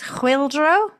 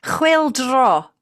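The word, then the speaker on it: Chwyldro: I think it's Chwildro, or Chwildro, actually, because it's just one O at the end. Chwildro.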